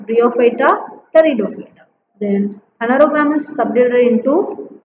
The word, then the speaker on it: pteridophyta: Then pteridophyta, P is silent here. So T-E is T-R-I, R-D-O, Do, phyta, pteridophyta, pteridophyta.